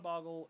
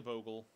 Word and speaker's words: Bogle: say the slippery Bogle and I call it a boggle it's really a Bogle I'm saying it wrong it's really a bubble you ogle the vocal or goggle the bottle this fella this is